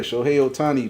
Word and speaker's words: Shohei Ohtani: Shohei Ohtani, man.